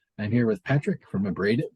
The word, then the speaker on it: Abraded: So that's pronounced right. It's not Abraded or anything, is it like that? No, you got it. Only when we're in another country. What do you mean? I think that would be the we have a South American tour coming up in March, and I think that would be the pronunciation down there is Oh, really? Abraded. yeah, something like that.